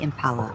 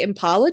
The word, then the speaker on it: Impala: you put the emphasis on the Impala. P. In the Impala. Get in the Impala. Like from Boston.